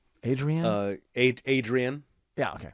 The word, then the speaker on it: Adrienne: Adrienne. Yeah, okay. Oh, no, like Rocky. Yeah. Adrienne. Okay, that's what I thought, but it's longer.